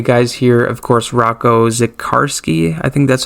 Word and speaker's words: Zikarsky: Of course, Rocco Zikarsky, that's how you say it, the second round pick from last year.